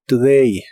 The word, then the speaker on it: today: today que significa hoy la o de esta palabra se pronuncia muy muy suavemente today today y usaremos la